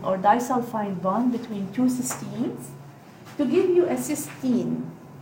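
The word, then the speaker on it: cystine: disulfide bond between two cysteines to give you a cysteine. And you can pronounce it a little differently. You can stress the EI here, and here you don't stress the E. There's no E.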